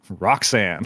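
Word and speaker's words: Rhok'zan: convention of just like spelling it weird and pronouncing it like a normal name, which I was like, love that. It's spelled, for those people listening, RHOK apostrophe ZAN, which is pronounced, Roxanne.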